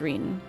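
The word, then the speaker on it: Ryne: It seems that Rhine was correct. Wait, it's not, I'm losing the pronunciation. Reen? It's Reen. It looks like Rhine, but Reen.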